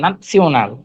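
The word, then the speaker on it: national: ইন্টারন্যাশনাল, এটা হচ্ছে নাসিওনাল, এন হ্যাঁ, আ, ন্যাশনাল। ন্যাশনাল, হ্যাঁ, ঠিক আছে। এন আ না হুম। সিওনাল, সিওনাল নাসিওনাল। ন্যাশনাল, হ্যাঁ। ন্যাশনাল না, উচ্চারণটা হবে হ্যাঁ ন্যাশনাল।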